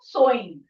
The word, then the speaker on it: sewing: baking, seamstress is to sewing. ये word को हम कैसे pronounce करते हैं? Sewing, not sewing.